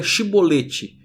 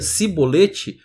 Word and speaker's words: chibolete: não a julliard lisinho Então diga chibolete se ele dizia sibolete não podendo pronunciar corretamente a palavra eles o agarravam e